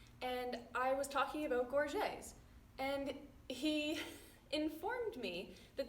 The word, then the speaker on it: gorget: And he informed me that they might actually be not called gorgets and instead pronounced as gorget. But I cannot get over that. I refuse to believe that. So for the rest of this video, I'm going to stick with gorget for my pronunciation, and you guys can